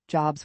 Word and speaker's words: Jobs: We basically destroyed our teacher, Jobs would say. We would let snakes loose in the classroom and explode bombs. His name rhymes with lobs, not lobes.